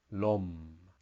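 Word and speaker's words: ลม: meditating lady boy and together it makes the word LOM which has no tone and that means wind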